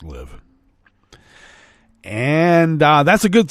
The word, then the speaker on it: LIV: Tour live golf merger it is pronounced live and uh that's a